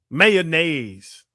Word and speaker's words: mayonnaise: Mayonnaise. Mayonnaise. Yeah, that's what I'm saying. Mayonnaise. No, mayonnaise. Two syllables.